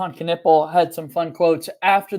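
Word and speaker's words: Knueppel: um season and K canle had some fun quotes after the game after the fact letting the record be known that it is pronounced canle so hopefully we can all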